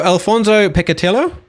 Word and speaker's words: Alfonso Peccatiello: So Alfonso Peccatiello? Is that the correct pronunciation? Yes, not that bad. Very well done.